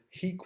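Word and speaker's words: hīc: he in this sentence, the answer is hic with a long I, right, and you can see the accent above the I. Hic with a long I means here, hic with a short I means this or this man or he. So he erat, he was,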